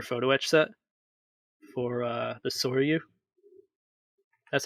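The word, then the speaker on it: Sōryū: It's a very detailed carrier photo etch set for the Soryu. That's how you pronounce it, right, Dennis?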